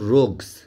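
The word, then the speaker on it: rogues: কাদেরকে দিল না টু রোগস আর ও জি ইউ এস মানে এটার উচ্চারণ হবে রোগস টু রোগস মানে দুজন পাজি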